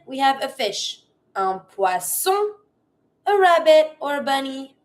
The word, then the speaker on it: poisson: Careful. Sometimes I hear poisson. Every time you have the double S, it will always be pronounced the S sound. Not the Z sound. Cuz if you say poisson, it means poison. Here we want to say fish. Poisson. S sound.